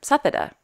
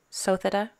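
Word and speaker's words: Suthida: of Her Majesty's name for a long time I've been calling her sethada but it's actually sotheda I think that's right if it's not Krishna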